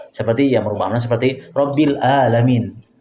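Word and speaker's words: العالمين: Ya, seperti yang merubah makna seperti Rabbil Alamin. Harusnya Rabbil Alamin pakai ain, Tuhan semesta alam. Kalau kita ganti menjadi hamzah, karena dia tidak terbiasa dengan hamzah, tidak terbiasa dengan ain, dia membacanya Rabbil Alamin.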